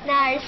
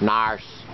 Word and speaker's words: nurse: you grow up teacher nurse nurse nurse nurse NSE narse Americans say Nur Nur nurse nurse nurse NSE and you say narse n and you're going